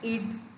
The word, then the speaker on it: id: Id, ego, superego. Many pronounce it as ID. It is id, ego, superego.